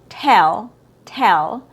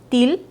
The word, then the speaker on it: tell: So our first example t tell sometimes when it's mispronounced it will come out as till. So till is not accurate. It has a short e sound, a relaxed sound.